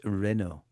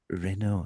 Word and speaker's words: Renault: it's Renault. I know. Renault. And it's not mermaid.